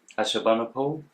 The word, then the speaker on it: Ashurbanipal: Ashurbanipal.